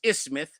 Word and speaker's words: isthmus: today the ish Smith the word is Isthmus the th is silent while today the ish Smith